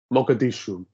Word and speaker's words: Mogadishu: That's how you pronounce it. It's got a cool soundtrack. Mogadishu, you're correct.